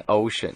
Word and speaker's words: OSN: 对，其实 OSN 就是念 Ocean，对，那是我的艺名，是，对对对，可是很多人其实不会念，会念 Ocean 啊，还是 OSN 啊，我